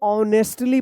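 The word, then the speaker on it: honesty: यहां पे भी एच का उच्चारण नहीं हो रहा है।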